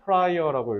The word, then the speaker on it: prior: 하겠다는 거잖아 앞이란 뜻이야 그리고 발음 유의하시고요 프라이어라고 읽으셔야 돼요 이전에 작품을 Alive 살아있게